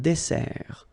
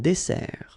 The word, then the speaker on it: dessert: But you say un dessert. Final T, not pronounced. Un dessert, all right?